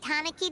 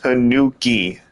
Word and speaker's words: Tanuki: when we chased that tanaki down this way good times Tanuki what the what's that what is that Pimon it's pronounced Tanuki Pon doesn't think they